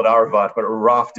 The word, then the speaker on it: Aravt: We call it Aravt, but Aravt is the proper way to pronounce it in Mongolian, and it's actually just the number 10 in a base unit of a military of a decimalized army.